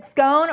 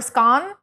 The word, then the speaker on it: scone: Do you pronounce it scone or scone? I say scone because I'm from the US, but I know in Europe a lot of you guys say scone. Scone.